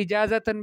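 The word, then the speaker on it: إجازةً: قولی اجازتاً بالتاء المربوطہ، اجازتاً کہیں تا مربوطہ سے، یعنی عفوا یا معلمتی ارید منک اجازتاً.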